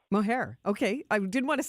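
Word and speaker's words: Mohajir: Mohair? Mohair.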